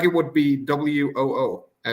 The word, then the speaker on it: Worcester: hour south of me called Worcester, but it's WOOSTER. Yeah, exactly. Like a rooster. If you have speech impediment, you're saying the word rooster. Oh, it's a Worcester.